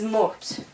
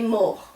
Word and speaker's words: mort: a little differently, because you don't pronounce the T. Remember, you only pronounce really C, R, F, and L. So this would be il est mort.